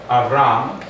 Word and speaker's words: Avram: The first letter, Aleph, is a silent letter, so we need to know how to sound it. The line underneath called a patach actually gives us a medium length A sound, A.